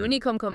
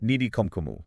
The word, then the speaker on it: Nini Khomkhomu: Nini Khomkhomu. Make sure you pronounce it right when you're telling all your friends about this one. Right. Nini Khomkhomu. Nini Khomkhomu.